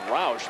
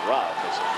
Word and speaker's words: Rauch: Spells his name like Roush, but he pronounces it Rauch.